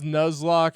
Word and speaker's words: Nuzlocke: It's pronounced Nuzlocke as in the Pokemon Nuzle Leaf.